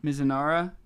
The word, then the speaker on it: Mizunara: Mizunara. That's our Japanese pronunciation.